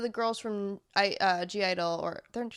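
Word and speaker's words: (G)I-DLE: g idol or they're they're pronounced idol but there's g idol because if i just say idol it makes no sense i know it's verbally i know what idol is you can just say it i know i just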